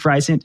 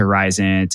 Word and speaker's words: Risant: I think Risant is how you say it, because it sounds like, they're really trying to push the needle forward from a population health perspective.